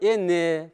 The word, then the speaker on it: энне: Так же прочитай, «эн» прочитай. А нужно говорить «энне», потому что вот, смотрите, редуцированный гласный. Мы потому что так говорим «энне», «энне», не «эн», «энне», «ширя», кстати, со звуком «ш», не смягчайте его, где не нужно.